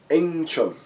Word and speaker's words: Wing Chun: So actually, in that province, where Southern Shaolin Temple is actually with the pronunciation of Eng Chun.